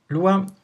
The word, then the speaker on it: Lua: you an overview on the Lua scripting language Lua pronounce Lua means moon in Portuguese and it is